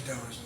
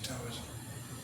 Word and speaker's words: Taoism: and in the the Taoism I pronounce it with a T because they spell it with a T. If they spell it with a D, I say Daoism.